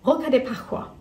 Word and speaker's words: Rosca de Pascua: Apparently it's Rosca de Pascua. Pascua. Rosca de Pascua. I think it was Pascua.